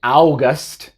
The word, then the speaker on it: August: La U es muda y la A tiene el sonido corto, A. Entonces, no se dice August para agosto. No es August, muchos dicen eso, August. No, es August. Simplemente es A, August.